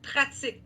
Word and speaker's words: pratique: Là, j'entends la prononciation espagnole, practicar. OK? En français, il n'y a pas de C. En français, on va dire pratique.